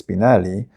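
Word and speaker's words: Spinell: a writer named her spinal who seems to like to pronounce his name as spinali probably saw The Italian sound makes it more romantic and artistic well her spindle becomes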